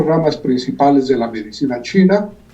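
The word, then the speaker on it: 气: Esas son las 4 ramas principales de la medicina china y es con lo que trabajamos en forma regular. Y por ejemplo, está en lo que es QI, que es el que se pronuncia chi, como tú dices, es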